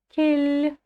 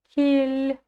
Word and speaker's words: кел: Кель. Представим, что после буквы «л» стоит мягкий знак. Кель. Не кел, а кель. Дальше идем.